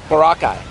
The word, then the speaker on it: Boracay: We're here in, how do I say, Boracay? You said it right. Boracay.